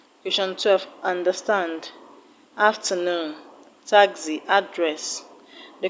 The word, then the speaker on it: address: afternoon and address audited how to stress address address the first level a is a sure sound so you do not